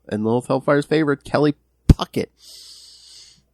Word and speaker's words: Puckett: Lilith Hellfire's favorite, Kelly Puckett. Popping those peas. Puckett, yes, Puckett. Puckett. That's how we pronounce that.